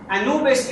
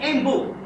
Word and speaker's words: Anubis: By the way, Anubis is the Greek way, as you know, of pronouncing Embu. The name in hieroglyphic Embu.